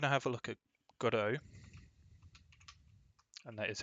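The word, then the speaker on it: Godot: So, I'm going to have a look at Godo. And that is how you say it, pronounce it, Godo with Blender.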